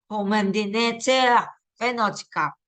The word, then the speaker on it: Commanditeur Vennootschap: Commanditeur Vennootschap. Oke, itu loh cara bacanya.